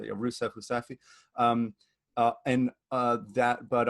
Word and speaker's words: Rousseff: so not only was doma rousseff impeached pronounced in portuguese but rusev um and uh that